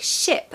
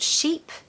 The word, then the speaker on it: ship: Make sure you pronounce the word ship like ship and not sheep.